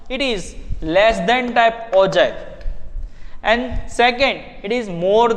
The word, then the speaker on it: ogive: It is ogive, pronounce is ogive, but we can write down in ogive.